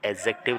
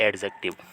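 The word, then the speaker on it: adjective: को बताता है और इसका प्रनंसीएशन की बात करें तो एडजेक्टिव बिल्कुल नहीं होता है दी को इसमें साइलेंट रखते हैं तो एक्जेक्टली इसमें साइलेंट रहता है तो एक्जेक्टिव रहेगा ना की एडजेक्टिव अगला देखते हैं कुछ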